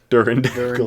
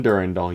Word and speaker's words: Durandal: I had someone actually pronounce it like that. Durandal. Yep. Dackle. Durandackle. Durandackle. Dackle-lackle. It's from Durandal, you halfwit.